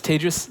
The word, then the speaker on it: Tejas: My name is Tejas. That's pronounced like contagious. I'm not contagious. It helps people pronounce my name.